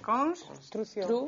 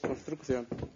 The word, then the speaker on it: construción: Ti pronuncias con dous Cs. Construcción. Carlos pronuncia con dous Cs. Como pronunciamos os galegos? Construcción. Con unha. Con C. Ti que crees, Luisa? Os galegos casi sempre con unha.